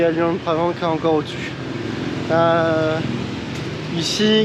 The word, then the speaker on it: Luang Prabang: En tout cas, du coup, on vous l'a pas dit, mais on est là à Luang-Prabang.